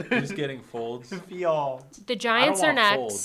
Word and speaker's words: Fields: Oh, you pronounced it like he typed it. Folds. Who's getting Folds? Fields.